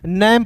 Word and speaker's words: name: हम लोग जो है नैम पढ़ते हैं। क्लियर, लेकिन अंतिम में ई आ गया दोस्तों तो इसका उच्चारण एक रूप में करेंगे, NAME नेम पढ़ेंगे।